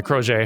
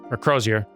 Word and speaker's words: Crozier: the crochet who uh crozier people were telling me that it's not that it's not actually a french pronounced word that one's actually just a real one crozier or something like that crozier man who knows